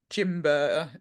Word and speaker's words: Gimber: And then you have things like Jimber or Gimber, depending on how you pronounce it, Three Spirits.